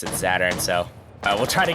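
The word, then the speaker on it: Zaturn: some news apparently we've been pronouncing as Saturn's name wrong uh it is Saturn and not zatsu it's a little bit confusing having the W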